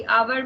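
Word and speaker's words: hour: ठीक है, और प्रोनाउंसिएशन मैटर करता है, जैसे कि आवर में जो है एच साइलेंट है और ये प्रोनाउंस एन आवर होता है, इसलिए यहाँ पे एन लगाते हैं।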